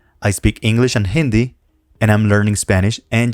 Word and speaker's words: hindi: Hindi in this case although the H is in Spanish completely silent here we have an exception and it is pronounced Hindi Arabi Japanese how do